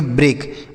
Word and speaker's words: break: यहाँ पर EA का उच्चारण एक ही मात्रा होगा। के से क, इसे पढ़ेंगे ब्रेक।